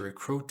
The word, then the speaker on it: recruit: A task force that's now developing programs that aim to recruit and retain more men. Recruit. Recruit. Emphasis in recruit.